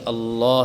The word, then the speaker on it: اللہ: جاتا ہے، یہاں پہ بہت غلطیاں کرتے ہیں بچے کہ لفظ اللہ کو باریک پڑھ دیتے ہیں، صحیح تلفظ سے ادا نہیں کرتے۔ تو اسی چیز کو